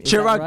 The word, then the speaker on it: Chirag: to the point where I would say my name was Chirag but uh no one knew what I was like I said I was like Chirac the French president and the teachers would